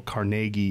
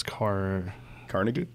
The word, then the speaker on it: Carnegie: Apparently, though, Carnegie is not pronounced Carnegie. It's Carnegie? Carnegie.